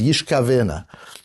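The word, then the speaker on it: ישגלנה: wife and another man will yishgalena, which we pronounce as yishkavena.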